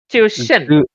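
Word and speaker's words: Zhuxin: So actually, Zuko, her name is pronounced as like Chiu Shin, Zushin.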